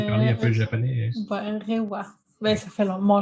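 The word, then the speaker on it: 令和: Ça se prononce comme ça, Chloé, toi qui sais parler un peu le japonais. Reiwa.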